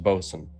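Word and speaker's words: boatswain: Devin the ship okay boat Swain is pronounced boson stupid English language so so torque would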